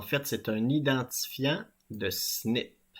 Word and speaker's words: SNP: c'est un identifiant de snip ces trois lettres SNP mais on les prononce snip qu'est-ce que c'est qu'un